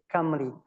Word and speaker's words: Cymru: If you read it, possibly we read it Cymru, but in Gaelic we say Camry. So there's a different pronunciation.